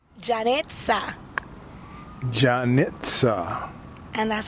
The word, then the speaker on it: Janetza: Janetza.